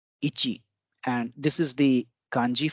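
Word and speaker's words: いち: one in Japanese is called Ichi Ichi and this is the kanji for one or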